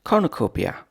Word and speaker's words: Cornucopia: 12 today's word is Cornucopia Cornucopia Cornucopia is five syllables Cornucopia kopia is NN